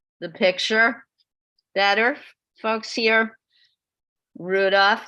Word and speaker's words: Rudolf: Better, folks here, Rudolph, like the reindeer, Stingel.